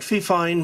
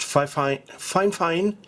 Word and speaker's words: Fifine: let's unbox the microphone that looks like fifeine but i understand it's pronounced fine fine and they make microphones